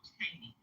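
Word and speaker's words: Cheyney: Right, I believe that's what he was trying to pronounce. Yeah, it's called Cheney.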